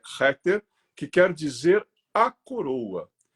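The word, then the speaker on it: Keter: da Árvore da Vida Que Nós chamamos né de kter embora a pronúncia é rter que quer dizer a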